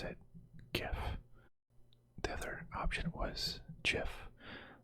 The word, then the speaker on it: GIF: I pronounce GIF, right? It's like gift without the T. Get like GIF. GIF. It has to be, a J is a whole different sound. GIF, like a G is gift.